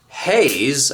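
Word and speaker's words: Hays: These are BMW Haze, I believe that's how you say it. H A Y S brake calipers and they have four pistons with much bigger brake pads.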